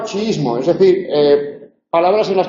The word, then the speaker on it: chiismo: En chiita y en chiismo, por lo tanto, tenemos palabras llanas que acaban en vocal. Las palabras llanas que acaban en vocal no se acentúan.